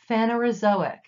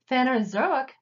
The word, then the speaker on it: Phanerozoic: part of the Precambrian phanerozoic zo ick phanerozoic phanerozoic means visible life Precambrian Precambrian within the Precambrian